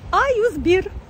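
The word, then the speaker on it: A101: А вы знали, что на турецком языке магазин А101, вот пишется А101, да, мы все русские это так читаем, а турки называют этот магазин Аюзбир.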